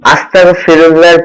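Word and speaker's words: أستغفر الله: Hamza scene যাব আস্তাগ, ইন যাব তাগ, আস্তাগ, ফাজের ফি, আস্তাগ ফি, র লাম পেশরুল, আস্তাগ ফিরুল, লাম খারা যাবর ল, আস্তাগ ফিরুল্লাহ, হা জবর হা, আস্তাগফিরুল্লাহ।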